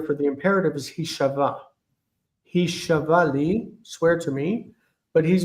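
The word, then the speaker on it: הִשָּׁבְעָה לִּי: He shava li kayom. Okay, that's very close. Because the ah under the sheen is long. We want to pronounce the shva after it. Hishav'ali.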